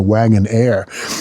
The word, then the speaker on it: Wagonaire: And again, wagon air spelled with an E. Very stylish. Wagon Air. A I R E.